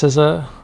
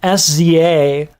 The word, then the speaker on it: SZA: technical first time ever listening to how they pronounce sizza and they write their name written yeah no if you go look at my first react it's hilarious I'm like sza I get a lot of people's names wrong